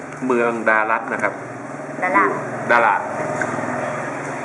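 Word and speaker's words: Đà Lạt: เมือง ดารั นะ ครับ ดา ดา ถ้า เกิด มา ถึง ที่ นี่ แล้ว ออก เสียง ดา ดารัก นะ ครับ ไม่ มี ใคร รู้ จัก ต้อง ดาด ครับ ฝน ตก แล้ว ก็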